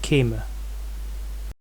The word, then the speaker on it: Kême: Kûme, probably from an older Kúmat, and at some point of history the pronunciation shifted to Kême.